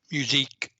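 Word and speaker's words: musique concrète: go spell it okay it's a music with a Q instead of c u e musique musique and it's a Concrete but yet it's French right okay it's a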